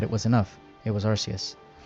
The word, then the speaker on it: Arceus: It was Arceus. I know it's supposed to be pronounced Arceus, but I really prefer and grew up with Arceus.